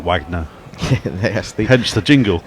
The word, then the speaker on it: Wagner: composer or exag now seemingly it's as in Robert Wagner yes they hedge the jingle indeed not Richard Wagner leeches on thirteen he's